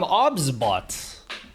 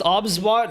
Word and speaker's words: OBSBOT: They are from OBSBot. Pronounced OBSBot, not OBS bot.